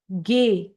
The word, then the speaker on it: Ge: F, English and German का F same होता है, सेम प्रोनाउंसिएशन होता है उसका। एंड गे, इंग्लिश का जो जी हम लोग बोलते हैं उसको जर्मन में हम लोग बोलेंगे गे।